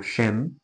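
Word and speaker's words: שם: Como não é repouso, sem shem significa nome. Curioso, não é? Nome. O significado da palavra sem ou shem, que é a pronúncia, né, mais próxima ali do hebraico, é nome.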